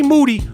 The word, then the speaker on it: Moody: Me and G Moody, whose last name rhymes with Duty, we challenge you to a 2-on-2 in basketball.